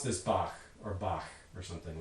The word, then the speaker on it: Bach: that in english well in german it's going to be something like bach where that final sound is a velar fricative in german obviously not possible in english what do you do with this well interestingly there's a couple different solutions here the most common one for sort of normal non-musician people i think is to map this to a velar stop and pronounce this bach so again we're imposing